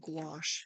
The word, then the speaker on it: gouache: But this paint is called gouache. If you are wondering what I'm painting with if you're just tuning in. It's like gouache. It rhymes with squash and I'm loving it.